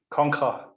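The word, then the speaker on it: Konkhra: How do you say it? Conquer. Conquer. Yeah, it's like a stupid variation of Conqueror.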